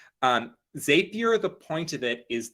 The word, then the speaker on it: Zapier: zapier i think please excuse me if i pronounce everything wrong um zapier the point of it is that it lets